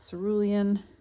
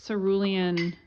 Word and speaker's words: Cerulean: mixture of ultramarine with Cerulean that every time I say culan am I saying it right like I feel like Cerulean rhymes with Julian it's a name all